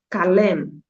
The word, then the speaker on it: kalem: Existe, quando palavras terminam com M e o N, ela vai ser lida também, né? Por isso que eu te falo, existe uma diferença da nossa pronúncia do português, que tem letras aí que acabam se apagando, mas no idioma turco, todas elas têm o seu som.